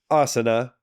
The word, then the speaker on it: asana: And that one's often mispronounced as asana. Asana. Yeah. Like what the Dutch people go into Right. during the wintertime to warm up their body. But it's not. It's asana.